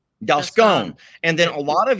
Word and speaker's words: Dalscone: Okay, so for those folks who are asking, Farmer Ben is the owner of Dalsconi Farm. Did I pronounce that correctly? Dalsconi? Dalscone. Dalscone.